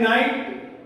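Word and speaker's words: knight: ठीक है, अब उसके आगे नंबर 31 में है नाइट। यहां पर जो है के साइलेंट है, नाइट के माने होते हैं सरदार, और दूसरा जो नाइट है उसके माने है रात।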